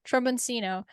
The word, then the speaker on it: tromboncino: But my tromboncino, I said it right this time. I realized that that's not how you say it, and I figured I had to look it up.